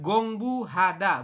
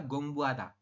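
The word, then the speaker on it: 공부하다: Kalau peletakannya di tengah seperti ini bukan gongbu hada, bukan. Tapi dibaca adalah gongbu ada. Gongbu ada. Artinya hanya itu samar atau hampir tidak jelas seperti itu. Oke ya. Bukan gongbu hada tapi gongbu ada.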